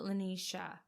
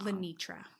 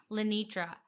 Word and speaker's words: Lenitra: how does he know lenisha is it lenisha I think I said her name wrong lenitra lenitra how does he know lenitra